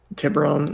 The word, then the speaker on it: Tiburon: It's just Tiburon? Tiburon, yeah. There we go. It sounds like a goddamn Volkswagen car.